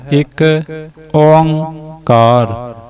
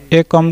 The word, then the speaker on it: ੴ: जो चल रहा है सो इस द उच्चारण बनता है एक ओंकार एक ओ का एक ओंकार एक ओंकार इसन असी एकम का नहीं उचार या इसन असी एकम का नहीं उच्चार या असी इसन एक ओंकार इस तरह भी नहीं